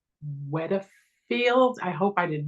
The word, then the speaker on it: Wiedefeld: And if you were on a balcony with him and the two of you fell off, Wiedefeld, right?